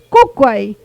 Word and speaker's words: Kukwai: Kukwai, la segunda sílaba es abierta. Por lo tanto, se acentúa la primera, cumple la regla, kukwai.